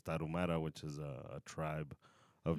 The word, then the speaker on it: Tarahumara: And then obviously Native Americans with the Aztecs, the Mayans, and I forget how to pronounce it in English, but in Spanish it's Tarahumara, which is a tribe of Native Americans.